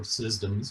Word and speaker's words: CSDMS: Dynamics Modeling System, CSDMS, or SysDMS if you pronounce it with a soft C.